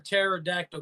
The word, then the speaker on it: pterodactyl: can't you hear a pterodactyl go to the bathroom what because the p is silent yeah why am